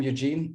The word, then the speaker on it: Eugene: I'm Eugene, and I guess Sebastian will call me Eugen. This is the German pronunciation of my name.